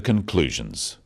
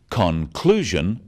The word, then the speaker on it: conclusion: one syllable is stressed the wrong stress makes it hard to understand so conclusion not conclusion products not products even